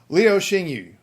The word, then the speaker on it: Liu Xinyu: And then the yu is not actually you. It's but we don't make that sound in English. So leo shingu. If you say like you or anything like that, Leo, that's about as close as you're going to get in English. At least it's not wildly off base.